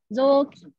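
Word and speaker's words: ぞうきん: Jadi kalau untuk ini bacanya zoki. Zoki. Ada kedengaran kayak huruf zoki. Walaupun tulisannya cuma zokin, tapi bacanya zoki.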